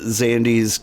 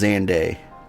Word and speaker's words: Xande: po perished in uh xandi's Calamity also I did learn it is pronounced xande so I've been saying it wrong this whole time survivors stood amidst the